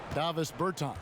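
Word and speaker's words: Dāvis Bertāns: Oh, well, now, at this point in my life, it's Davis Bertans. Is that how you say his name? Yeah. Davis Bertans.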